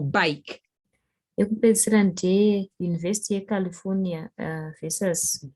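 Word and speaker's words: Bakke: And the last one was the University of California versus, I think it's pronounced back or bake.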